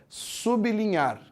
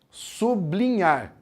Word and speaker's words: sublinhar: pronunciar essa palavra é o jeito certo de pronunciar é sublinhar separa no b e depois continua a sublinhar muitas pessoas falam sublinhar é errado falar assim porque é errado falar